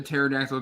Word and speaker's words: pterodactyl: Why couldn't you hear the pterodactyl going to the restroom? Because the P is silent.